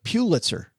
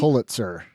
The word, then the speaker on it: Pulitzer: It's Pulitzer. No, it's Pulitzer. Neither of us were right. I said Pulitzer because it's fun to say poo, but it's Pull. You say it's Pulitzer.